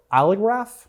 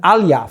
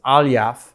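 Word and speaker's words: Aliyev: Mo Ali Aliya or Ali Graf? How do you pronounce it? Probably not like that. Aliyaff. Thought there was an R in there for some reason, but it's Aliyaff.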